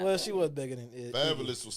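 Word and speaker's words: Fabolous: Well, she was bigger than Fabulous was spelling fabulous wrong when he used to spell his name. F A B O L O U S. Like his name is Fabulous.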